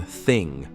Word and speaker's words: þing: Unlike today's Scandinavian languages, Old Norse was rich with sounds like the thorn in þing, pronounced like the th in think.